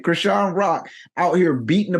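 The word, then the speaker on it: Chrisean: It's funny because her name is Krishan, right?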